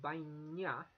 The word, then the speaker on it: baina: Now in Basque, if an N has an I before it or immediately after it, then it's pronounced as a ny. So baina, but, euskara, Basque, ikasten dut.